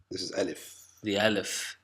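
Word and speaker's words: ألف: Elif Elif Elif good the Elif is pronounced like like dad in most cases but in some say in some cases like father there is no third pronunciation in a later lesson we will explain when it is pronounced in which way so L if can print it be pronounced a or ah like dad or father okay so sometimes it's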